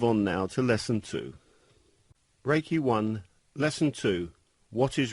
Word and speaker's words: reiki: meaning universal life force although the proper japanese pronunciation is reiki it has been westernized to reiki ray means universal omnipresent present everywhere at the